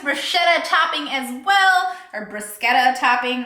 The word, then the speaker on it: bruschetta: So I got this bruschetta topping as well, or bruschetta topping. I think you're supposed to pronounce the k in there.